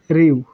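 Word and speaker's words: りゅ: কথা ছিল, রি ইউ, কিন্তু এটি হয়ে যাবে রিউ, রিউ। তারপরে রি ইউ, এটি হওয়ার কথা ছিল রি ইউ, কিন্তু বাট এই ইয়াটা বর্ণটা হয়ে যাবে রিয়া, রিও। বুঝতেই পারছেন, তাহলে রিয়া রিউ রিও, রিয়া রিউ রিও।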